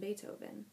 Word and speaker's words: Beethoven: started talking he mentioned beethoven she had read in the library about that musician his name was pronounced with an a and spelled with a double e he was a german